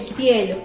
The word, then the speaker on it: cielo: Cielo es una palabra que cae, que sobrecae la mayor fuerza de voz en la penúltima sílaba.